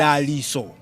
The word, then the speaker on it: Daliso: interesting thing is yes, I actually take all pronunciations because yes, a lot of people get confused because the thing is I was born in Zambia, but I am Malawian. In Malawi, it's spelled TSO. Daliso. In Zambia, it's spelled ISO. Okay. And because I was in Zambia when I was born, my parents chose to use the local Zambian pronunciation.